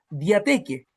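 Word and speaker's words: διαθήκη: En griego se dice pacto y se pronuncia diateque.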